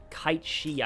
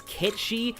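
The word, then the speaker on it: Cait Sith: I think it's Ketchi. I only know that because, like, the way that Joker says it in Persona 5 sounds like a Ketchi. He sounds like he's saying Ketchi.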